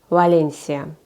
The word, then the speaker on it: Valencia: то что там написано например Валенсия как мы читаем Валенсия по-испански читается Валенсия То есть ты когда